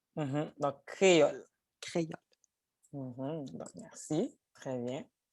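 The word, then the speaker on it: Kreyòl: Alors, créole, le son E s'écrit juste E, sans accent. Et le son A s'écrit O accent grave. Ça donne K-R... O accent faux, oui. Accent fausse. Accent fausse. Alors, ça donne K-R-E-Y-O accent fausse, L.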